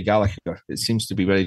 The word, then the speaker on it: Gallacher: Yeah, it's not easy for non-Scottish people to say Gallacher. It seems to be very difficult. Especially our English friends, they introduce a G in the middle of the name somehow. It's very odd. Gallacher it is.